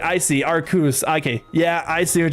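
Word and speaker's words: Arceus: He always corrects himself to pronounce it Arcos, like, oh, I'm blinded by the lights, not, oh, okay. Oh, okay. I see what you're saying. I see, Arcus.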